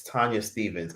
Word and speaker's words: Tanya Stephens: And then another person is like, it's not Tanya Stephens, it's Tanya Stephens. And a bunch of shit. Even though it's spelled like Stephens, which is weird.